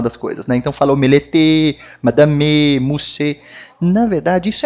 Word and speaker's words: omelette: O E no final da palavra, ele não tem um som puxado, né? Como, por exemplo, aqui, ó. Omelette, madame, mousse. Percebe que a minha pronúncia parou na letra anterior ao E, né? Omelette, parou no T.